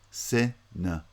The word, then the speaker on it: cinema: The second and third syllables both have vowel reduction because they're unstressed syllables. N-ma. Cinema.